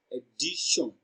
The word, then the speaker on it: addition: The letter T is pronounced as sh, addition.